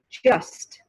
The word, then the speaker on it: just: word just just just you definitely hear the t at the end of the word just but if you say it in a sentence such as she's just lucky she's just lucky did you hear that she's just lucky the t disappears in the american accent she's just lucky he's